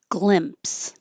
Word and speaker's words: glimpse: Glimpse. Glimpse. It's the same vowel I, glimpse, and we usually use it with caught I caught a glimpse of.